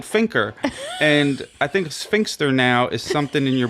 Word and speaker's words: sphincter: In the review, did she say finker for sphincter? Sphincter. Sphincter. Is there a T?